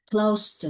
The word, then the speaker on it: close: Ok, close to, thì đây mình đọc là âm s nha. Như vậy cứ nhớ là gần, tầm chừng, tầm khoảng bao nhiêu, thì tính từ thì đọc âm s, động từ thì đọc âm z, động từ ed thì đọc âm zd.